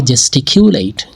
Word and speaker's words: gesticulate: সো আজকে আমরা যে শব্দটা শিখব এই শব্দটার উচ্চারণ হচ্ছে জেস্টিকিউলেট। জেস্টিকিউলেট এটা একটা ভার্ব।